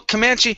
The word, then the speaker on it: Comanche: Comanche, did I say it correct? Well, Comanche.